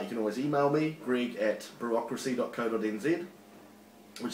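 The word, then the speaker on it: Greig: can always email me Greg bureaucracy. co.nz which sounds like a mouthful but Google it you'll find it um the only trap is that my name is spelled g re e i g just I yeah I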